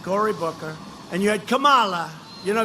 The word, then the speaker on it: Kamala: If you really take, you had Elizabeth Warren, you had Cory Booker, and you had Kamala. You know, if you pronounce her name wrong, she goes crazy. Kamala, like a comma.